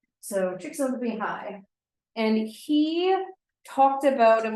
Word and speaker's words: Csikszentmihalyi: The way to pronounce this guy's name is Csikszentmihalyi. So Csikszentmihalyi, and he talked about and was really interested in optimal experiences.